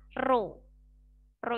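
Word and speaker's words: ρ: seperti rpae miring begini Ini bacanya ro-ro itu Masnya bacanya Ya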